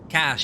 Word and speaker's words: cache: annoyed i keep forgetting how to pronounce cache cash it is cash it's not cash cash okay between the threads